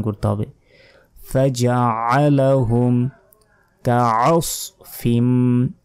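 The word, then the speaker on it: كَعَصْفٍ: ফাজআলাহুম কাআসফিম, আমরা অনেকে বলি কাসফিম, এটা ভুল, কাআস নয়, কাআসফিম, ফিম এখানে গুণনা হবে।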